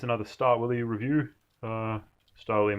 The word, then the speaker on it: Stahlwille: start will you review Stoli made in Germany pronounced Starla Villa by the Germans this is a quick